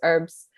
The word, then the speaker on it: herbs: other thing too is herbs um herbs turn it darn it pick me up every time you say this uh yeah we don't pronounce h uh so in chinese